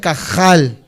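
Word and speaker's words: קהל: Aunque en el hebreo se pronuncia un poco feo la J o la H, se pronuncia como si estuvieras haciendo gárgaras. Se pronuncia cajal de esta manera.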